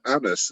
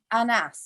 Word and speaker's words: Annas: And did you know that the name Annas, is that how you pronounce it? Yeah. Annas?